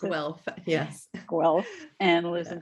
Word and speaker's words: Guelph: I don't know if that's how you pronounce it. Guelph, yes.